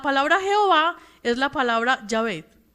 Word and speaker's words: Yahvé: Entonces esa palabra se pronuncia de la manera más fácil, Yahvé.